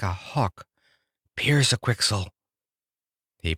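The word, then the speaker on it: Pyrzqxgl: become a big strong bird like a hawk Pierce a quixel he pronounced it the right way so in a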